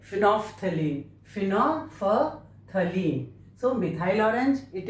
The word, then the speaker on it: phenolphthalein: This L is silent here, so we pronounce it like phenolphthalein.